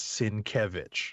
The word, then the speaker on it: Sienkiewicz: i am comfortable when i see his name pronouncing it it is sin kevich right and i and i definitely chuckled when